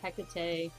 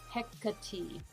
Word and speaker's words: Hecate: about how do you pronounce this anyway so hecka t and i'm putting it in the chat because i kept saying hecate but the pronunciation is hecate so hecate and we were joking around as like hecka